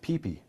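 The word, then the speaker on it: ΠΙΠΙ: copy them, so they replace the Hebrew letters Yud-Heh-Vav-Heh with the Greek letters Pi Yota, which is pronounced Pipi.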